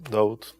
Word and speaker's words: Daud: I changed the pronunciation, David to Daud.